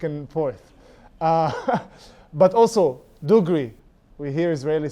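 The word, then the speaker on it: دغري: Dugree means Hebrew accent dugree with a with a with a g which is in in Arabic it's but because Hebrew speakers can't pronounce it like that because they have the they do it and then it's just a whole mess.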